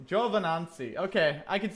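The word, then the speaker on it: Giovinazzi: spelled in English anyways Gio vinden on soo is pronounced Jove in Nancy Java Nancy okay I could say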